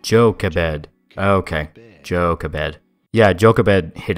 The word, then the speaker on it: Jochebed: How do you go about pronouncing her name? Jochebed. Jochebed.